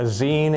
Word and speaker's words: zine: A zine is an online magazine, so it's pronounced zine for that reason. It's just a shortened version of the word magazine.